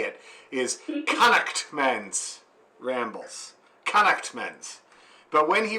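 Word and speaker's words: Connaughtman's Rambles: that i'm not pronouncing it correctly the correct pronunciation as reminded to me by my friend brian every time i say it is connect men's rambles connect men's but when he reminds me of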